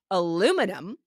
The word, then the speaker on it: aluminum: so the next word we say aluminum but in the UK and other colonies that are connected to British English uh that were colonies they say aluminium which is also very